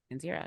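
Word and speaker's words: Kenzera: Zao Tales of, is it Kenzira? Kenzira, is that how you pronounce Kenzira. Kenzira, yes.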